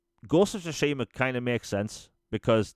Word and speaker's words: Tsushima: Like, I feel I think I first pronounced it Tusima or something like that, and then somebody laughed. Was like, no, it's not. It's this.